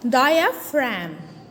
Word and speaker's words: diaphragm: diaphragm also noted that the g is silent the g letter is silent so it's called diaphragm diaphragm not diaphragm it is a diaphragm this muscles separate the